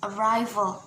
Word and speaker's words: arrival: For example, arrival. So the stress is in the second syllable, while the natural suffixes